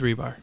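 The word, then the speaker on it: Hribar: scores everything you need i know it's spelled hr ibr i thought it was rebar it is rebar yeah see oh now who's the douchey douche so wait it's a silent h yeah i knew it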